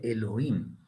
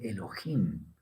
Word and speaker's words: Elohim: Entre los Ashkenazis se dice Elohim, como una J. Pero técnicamente la pronunciación de la letra E es, entonces no es Elohim a secas, sino como Elohim, pero una J muy casi imperceptible.